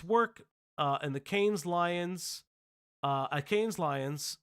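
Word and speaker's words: Cannes: gonna I know it's the cans not the kanes I know uh New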